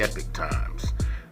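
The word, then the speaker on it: Epoch Times: pronouncing it at first but it is actually pronounced the epic times uh sorry about that but anyway back to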